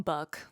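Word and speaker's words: Buke: his friend, whose name is spelled B-U-K-E, I call him Buck, he decided to be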